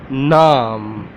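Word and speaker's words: نام: Naam, how to say in Urdu? Naam, naam, naam. Okay, there are three alphabets in this word: noon, alif, meme.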